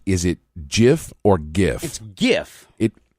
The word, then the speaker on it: GIF: it Jif or gif gif it the creator says it's gif the hell does he know he's an idiot well yes but and I agree with you it's it's it's a hard G but what do I